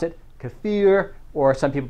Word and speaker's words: kefir: research in regard to how kefir or if you like the pronunciation to fear basically help reduce hypertension